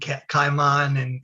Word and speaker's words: caiman: I know I have an odd way of pronouncing Angel and Caiman and all of those other That's things.